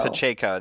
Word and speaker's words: Pacheco: and i'm never going to be able to pronounce his last name right uh isaiah um what is it pacheco pacheco that's it yeah um i mean i know